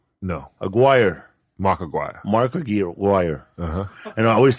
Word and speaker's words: Aguirre: Mark Aguirre.